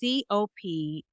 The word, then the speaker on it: coprophagia: sure I'm going to botch it up by pronouncing it, but it's COPROPHAGIA.